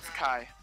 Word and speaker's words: Ki: spending two Kai points to cast uh Kai Chi Kai if it's Chi I would say chi K it's pronounced Kai I'm casting Darkness right here so uh magical